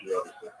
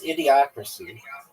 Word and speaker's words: Idiocracy: Grandma's favorite movie is Idiotic. No, it's not. That's not even how you pronounce it. It's idiocracy.